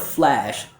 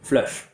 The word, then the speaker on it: flash: So the mistake I hear with this word is that a lot of students don't get enough open quality for the American ear to hear the ah like bat sound. So instead of flash, a lot of students will say flush, flush. And for me, that sounds like flesh.